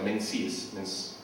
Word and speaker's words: Menzies: Se llama Gavin o Gabán, no sé cómo se pronunciará, Menzies, así con Z, Menzies, así se pronuncia.